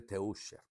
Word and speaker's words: Teuscher: marca Teuscher, es T-E-U-S-C-H-E-R, escribe Teuscher y se pronuncia Teuscher en alemán.